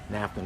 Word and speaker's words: NAFTA: Well, I think it sounds a lot like NASA. NAFTA.